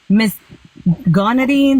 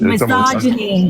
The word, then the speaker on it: misogyny: Misgonity, misogynics. Oh, well, misogyny? Was it Misogyny?